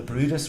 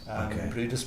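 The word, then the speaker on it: Bryde's: No, they got these traps, and of course, all our beautiful resident whales, which are the Brutus whales, it's spelled brides. Brutus whales.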